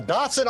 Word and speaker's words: dachshund: Oh, a Dachshund? Oh, I thought you said a Dachshund. I was like, what the hell? That's how we pronounce it in the UK.